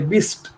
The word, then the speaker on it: bist: बट नाउ इफ you pronounce इज like this only, बिस्ट, right?